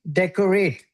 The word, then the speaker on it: decorate: Like deck, right? Like we have a deck in the house, right?